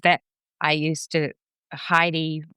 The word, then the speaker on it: Heidi: My father says that I used to Heidi rhymes with tidy and from the age of three years old I used to tidy up the house after the rest of the family.